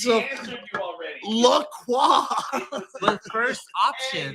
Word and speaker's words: La Croix: La Croix. the first Hey, option. you're Canadian. You did pronounce it right.